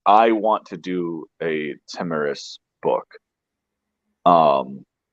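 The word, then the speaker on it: Tomyris: pronouncing it Tomyrus. Timurus.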